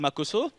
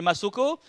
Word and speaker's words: Makoso: nom mais je m'appelle makoso et comme à l'école mes amis avaient souvent du mal à bien prononcer mon nom c'est-à-dire au lieu de dire makoso certains m'appelai masoko ah il y a